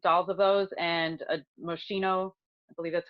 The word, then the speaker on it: Moschino: um 500 um dolls of those and a moschino i believe that's how you say his name